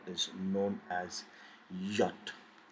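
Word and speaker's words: Jot: we will never pronounce it as i we pronounce it as e so let's practice the next we have is yacht now always always sounds as yeah and sound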